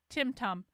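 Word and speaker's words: tumtum: Tim Tum, pronounced Tim Tum, using a short U to rhyme with rim, rum.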